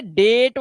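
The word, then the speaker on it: date: तो रूल क्या बना? ए के बाद ए कोसोनेंट को छोड़कर अगर इ आ रहा है तो ए का उच्चारण तो ए कर देना है। इस वजह से यह डेट हो गया।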